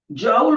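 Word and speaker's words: joule: जाउल बोल रहा हूं बेटे, जे stands for capital J, जाउल। जाउल proper name अच्छे से प्रोनाउंस कर रहे तो जाउल साइंटिस्ट का नाम है वैसे ही।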